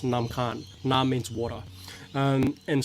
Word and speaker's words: Nam Khan: the khan river um in lao it's it's pronounced nam khan na means water um